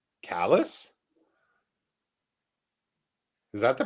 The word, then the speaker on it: Calais: Calais in Maine is pronounced callus.